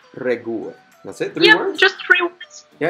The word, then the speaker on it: regułę: Okay, so, but now how do I properly pronounce it? That's the real question. Wyjątek. Wyjątek. Potwierdza. Popierdza. Regułę. Regułę.